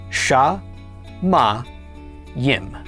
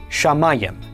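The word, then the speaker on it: שמים: The sheen with the dot on the right is pronounced sh. The kamat is pronounced a. Mim is m. Pak is a yod is yik is i and final mim is m altogether this is pronounced sha ma yim shamayim shamayim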